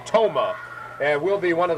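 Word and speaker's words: Thoma: 510 and 147 pounds the girl's name t-h-o-m-a pronounces it tomah and will be one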